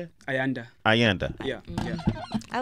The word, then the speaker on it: Ayanda: Ayanda.